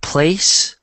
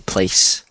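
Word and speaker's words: plaice: Which I've never heard of before, but I guess it's pronounced the same place.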